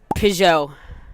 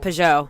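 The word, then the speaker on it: Peugeot: It's um PJO. Pujo. PJO. It's a French brand.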